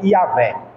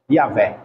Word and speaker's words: Iavé: Foi preciso colocar apóstrofo, uma letrinha assim para poder conseguir falar. Aí, depois dos apóstolos, depois que inseriram as letrinhas, aí pronunciou-se como Iavé. Iavé.